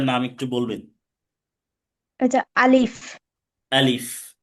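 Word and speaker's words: ا: আলিফ। আলিফ উচ্চারণ করতে হবে মুখের খালি জায়গা থেকে।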